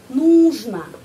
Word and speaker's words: нужно: Мне нужно, kita menulis нужно, tapi pengucapannya di sini ya tekanan ya, tekanan pada huruf U. Karena itu нужно. Huruf O, pengucapannya A ya.